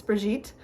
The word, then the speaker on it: Brigitte: It's Brigitte.